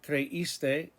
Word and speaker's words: creíste: You thought, creíste, accent on the I.